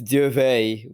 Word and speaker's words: Duvel: Yeah, it's Duvet, which is close enough to Duvel. So Oh, okay, okay. So the L is silent. yeah, Okay. it turns into like almost like a yeah sound.